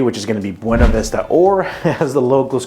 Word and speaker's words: Buena Vista: video in the past, I made the mistake of not properly pronouncing it according to us locals here as Buena Vista, so I got a bunch of hate comments. So I know it's Buena Vista if you're here, but you know, people that don't know that are going to call it Buena Vista because, you know, that's how it's spelled.